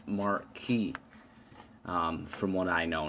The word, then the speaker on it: Marquis: atomizer clone from tobacco i was saying marquis i think up top um recording this portion a day later and i realized it's marquee so ignore my mispronunciation of this atomizer it's marquee um from what i